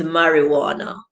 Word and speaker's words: marijuana: awesome baru okay so the only word in the english language with a silent j is marijuana yoda said that's what